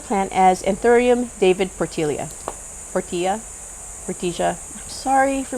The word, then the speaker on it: Portilla: as antherium David Portia Portilla Poria sorry for mispronouncing here in the Philippines the Double L is y yamas y yagas so David pilia so the plant that's